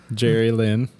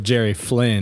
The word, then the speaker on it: Jerry Flynn: Jerry Lynn. Yeah. Say his name again. Oh, it's actually Jerry Flynn.